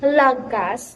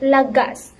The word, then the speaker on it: lagas: So instead of pronouncing it lagas or lagas, you should pronounce it lagas, because as you can see, the stress here found on the last syllable of the word.